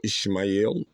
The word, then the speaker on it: Ismail: have covered the prophet Ismail or Ishmael prophet Abraham also is acceptable as we had covered in that video so we want to make sure the uh both uh versions of both versions of pronunciation uh present so we have uh